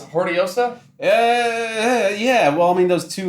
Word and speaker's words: Hortillosa: You could pronounce the H, you could not pronounce the H, you could do the 2 L's. In the Philippines, Hortillosa. they would say Hortillosa because it's like L-Y sound.